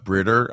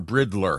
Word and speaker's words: Britter: And then, of course, at #MusicMM, we had a couple of our favorite followers here, Rowan Britter. I always pronounce her Bridler.